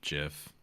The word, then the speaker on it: GIF: Giant giraffe GIF.